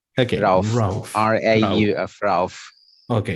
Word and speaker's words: Rauf: You, Rauf, it's a good pronunciation? Rauf? You're absolutely correct. Okay, Rauf.